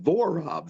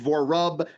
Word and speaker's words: Vorob: Vorob, Vorob. It sounds like, to me, it seems easy, but it's people. I've been Vorob, Vorub, Vorab.